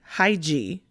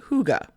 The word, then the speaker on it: hygge: word it looks like hiji but it's pronounced hygge it is a danish word and there's not exactly